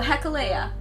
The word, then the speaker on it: Gecolea: By the way, how do you pronounce your surname? Oh, Gecolea.